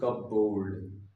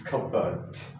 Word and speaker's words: cupboard: This way people say kabboard. But this is not kabboard. This is kabot. Kabert. Kabert. Remember first rule that P is silent here.